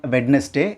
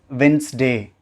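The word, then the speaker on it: Wednesday: இட்ஸ் நாட் வெட்னஸ்டே, இட்ஸ் வென்ஸ்டே.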